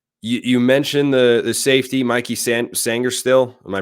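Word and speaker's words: Sainristil: You mentioned the safety, Mikey Sangerstill. Am I pronouncing that right?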